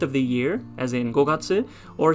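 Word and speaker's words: 五月: followed by the kanji for moon would be gokatsu in this case as in the fifth month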